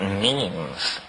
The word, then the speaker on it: meme: last year about about means you know what means our means are the smallest units of a concept and they're like genes the word is deliberately constructed to rip to rhyme with gene and so when I